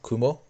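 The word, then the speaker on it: くも: sobre o porquê das palavras nuvem e Aranha terem a mesma pronúncia kumo a história segue que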